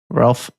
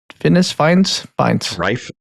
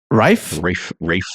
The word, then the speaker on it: Ralph: And it's written by Thomas Keneally and Steven Zaillian, and it stars Liam Neeson, Ralph Fiennes. Rafe Fiennes. Rafe Fiennes. It's not Fiennes. Ralph? No, there's no L in it.